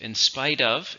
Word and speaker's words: in spite of: So there are 3 words there, each with its own syllable, but spite is what gets the stress. In spite of.